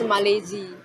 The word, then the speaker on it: Malaisie: In French, it's Malaisie.